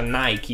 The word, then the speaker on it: Nike: ce la facciamo nike che realtà si pronuncia nike iper che deriva dal greco 14 milioni ok online